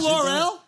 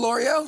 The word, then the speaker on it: Lore'l: You know L'Oreal?